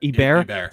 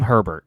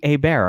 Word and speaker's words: Herbert: I'm not saying it wrong. I'm making Hebert a thing. I know his name. I don't want to call him Herbert. It's such a weird sounding last name.